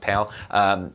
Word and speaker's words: PAL: uses the PAL system the P al I think it's just pronounced pale you're gonna want to